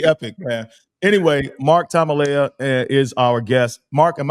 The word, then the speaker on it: Tamaleaa: that would be epic man anyway anyway Mark Tamala is our guest Mark am I pronouncing your last name right yeah yeah that's